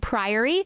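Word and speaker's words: Priory: do PRI in England you've never heard Prairie pronounced that way I'm not saying Prairie I'm saying prior it's p r i o r y apparently it's like a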